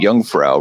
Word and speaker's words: Jungfrau: did I go I I was in the Jungfrau region that's how you pronounce it did some skiing there the beautiful